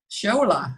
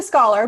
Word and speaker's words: Scholar: And my special guest today is Scholola. Did I pronounce that right? It's actually scholar, but you got really close. It's like scholarship scholar.